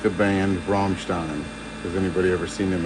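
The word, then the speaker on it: Rammstein: Is Teni a Romstein fan? You notice I say that correctly, too. Not butchered like you hear most American culture. They'll call it everything but that. It's Ramstein.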